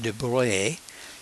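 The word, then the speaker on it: de Broglie: he proposed that there that's pronounced Duvalier he would he pronounced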